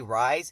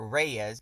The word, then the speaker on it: Reyes: How do you get Reyez from Reyes? Like, if there was an A there, I would get it. You don't even have to roll your R. Reyes. It's with an E. Reyes, not Reyes.